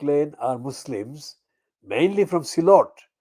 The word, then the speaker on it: Sylhet: are Muslims mainly from Silot. Sylhet is the anglicized spelling, but the Silot phonetically is S for sugar or S for Silot, double E, L for Lima, O, T for Tommy.